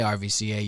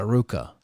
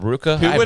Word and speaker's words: RVCA: all the Surfers would say you don't say RVCA you oh call it Ruka what the that's called Ruka never known I've never known I would never